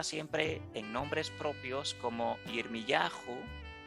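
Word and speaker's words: ירמיהו: en nombres propios como Yirmiyahu o como Yeshayahu. Yirmiyahu es como se pronuncia realmente el nombre de Jeremías y Yeshayahu es como se pronuncia en hebreo el nombre de Isaías.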